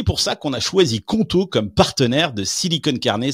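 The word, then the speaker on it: Qonto: Choisissez conto, ça s'écrit Q O N T O pour vous lancer.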